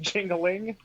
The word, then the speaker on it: Jingliang: Jingliang. No, that's pronounced Jingling. That's pronounced Jingling, yeah.